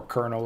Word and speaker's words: colonel: it is achievement complete colonel or kernel if we want to say it right uh there it is